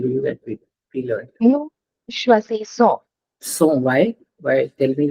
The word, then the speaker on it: choisissons: it's pronounced as S and not Z. Okay, Yeah. double S, vowel, vowel. We pronounce it as S. So this is choisissons.